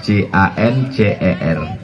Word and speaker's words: cancer: menggumpal di dalam, jadi kanker. Tulisannya C-A-N-C-E-R. Orang barat membacanya cancer. Cancer. Payah orang kita bilang cancer, kanker.